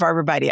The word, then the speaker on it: arborvitae: So the pronunciation of arbor vitae, I would wish to absolve you when you spit out the arbor vitae. Vitae can actually be pronounced that way, and you should not be feeling so self-conscious. Most people, it's true, say arborvitae, and that's what spills off my tongue.